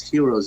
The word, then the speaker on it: gyro: a greek sandwich and in Greek gyro is pronounced hero yeah when people started